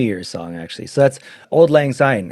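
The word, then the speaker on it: Auld Lang Syne: So that's Old Lang Syne. It's just spelled like in a German.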